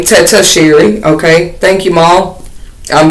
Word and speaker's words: Tetisheri: Her name is pronounced Tetisheri, but my name is pretty much inspired by her name, Tetisheri.